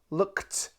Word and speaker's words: looked: English it'll have a it will have a T sound looked can you say